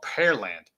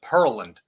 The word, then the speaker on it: Pearland: graduated is called Pearland p-e-a-r-l-a-n-d pear land but I've heard people pronounce it purlined thank you like Pearl pearl land basically and then there's running all together purling or Perry land I've heard of people pronounce it that way too wow Perry land